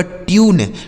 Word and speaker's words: tune: ठीक है, आगे TUNE, तो टी से हो गया दोस्तों आधा ट, यू का उच्चारण यू हो गया, NE से न, यह लिखा गया आपका ट्यून, TUNE ट्यून।